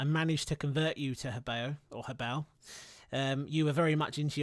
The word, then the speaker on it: Hobao: the intro I managed to convert you to Hobao.